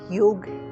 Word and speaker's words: योग: आज इंटरनेशनल योग डे है। यस, इंटरनेशनल योग डे, ना कि योगा डे। योगा एक गलत प्रोनाउंसिएशन है। योग वर्ड है, एक संस्कृत वर्ड।